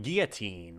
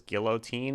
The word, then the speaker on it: guillotine: One must dismiss the pronunciation of this word as guillotine. This is typical British pronunciation.